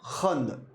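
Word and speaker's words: ख़ंद: अब ये बोलेगा आपका कंद और यह बोलता है खंद। दोनों के उच्चारण में अंतर है। उच्चारण कहता है कंद और ये कहेगा खंद।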